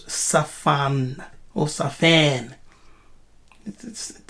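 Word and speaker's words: צָפַן: It's the word sapan. Here. Yes, it's the word sapan. Sapan, which they pronounce safan.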